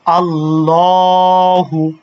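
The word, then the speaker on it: اللهُ: আল্লাহু যেটা কিছুক্ষণ আগে পড়লাম কিন্তু আল্লাহু লামের উপরে কি আছে? খারা জবর আছে। আর যদি খারা জবর থাকে তাহলে এক আলিফ টানতে হবে। সেজন্য পড়বো কিভাবে? আল্লাহু আল্লাহু। আমার সাথে যারা যারা দেখতেছেন সবাই উচ্চারণ করেন তাহলে সহজ হবে। আল্লাহু আল্লাহু তারপরে হচ্ছে কি আর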